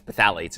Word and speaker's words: phthalates: with a chemical called phthalates and that's pH th a la te it's petha let's is what it would be pronounced and what it's doing